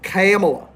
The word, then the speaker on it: Kamala: It's actually, that's how you pronounce it. It's Kamala. We have Donald.